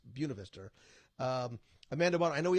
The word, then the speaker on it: Buena Vista: Vista University it's not it's spelled the same way the point of vista but it's Buena Vista Amanda bond I know